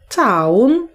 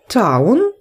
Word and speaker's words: town: До тієї колонки, там, де буквосполучення OW читається як AU, і до тієї колонки, там, де OW вимовляється як O. Окей. Drown. Town.